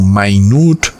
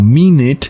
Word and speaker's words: minute: Por ejemplo, en el idioma inglés está la palabra minute, como se lee en español, pero se puede pronunciar como minute, que significa algo pequeño, o también como minute, que significa minuto.